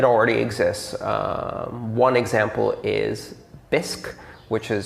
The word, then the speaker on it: Bisq: in fact it already exists one example is bisque which is spelt b-i-s-q and bisque is a decentralized exchange that runs a peer-to-peer